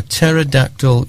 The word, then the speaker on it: pterodactyl: can't you hear a pterodactyl use in the bathroom I don't know because the p is silent that's a brilliant joke